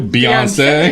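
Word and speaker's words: Beyoncé: Beyonce. Beyonce. It's like Tarjay. Need that long syllable at the end. Beyonce.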